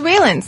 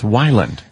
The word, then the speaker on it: Weiland: Everybody says Wayland. Wayland, too, sometimes. Weiland. But it's Wyland.